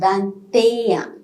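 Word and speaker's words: vingt-et-un: pronunciation rule okay so in this place we are pronouncing t in the word of that that's it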